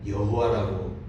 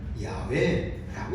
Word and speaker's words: 야훼: 그 이름을 여호와라고 되어 있죠. 그런데 나중에 연구해 보니까 야훼라고 읽어야 맞다 하는 것이 학자들의 얘기예요.